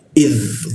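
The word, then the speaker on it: إذ: Id huruf dza mati itu harus jelas ya. Id jangan sampai nanti ketukar dengan sa, jangan sampai ketukar dengan tsa. Idz ya idz jadi perjelas huruf dza mati.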